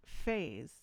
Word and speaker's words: Phze: The artist's name is Phze, and it's pronounced Phase.